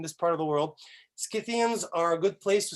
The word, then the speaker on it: Scythian: who have corrected me i've said cythian for a long time scythian apparently is what the way academics like to pronounce it in this part of the world scythians are a good place